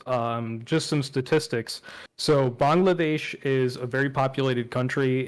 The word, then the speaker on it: Bangladesh: in Bangladesh um uh a lot of people say Bangladesh but that's sort of the American pronunciation I say the Bengali pronunciation which is Bangladesh Bangladesh yeah you got